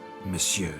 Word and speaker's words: monsieur: de bobo fine monsieur the emphasis falls on the last syllable see now i'd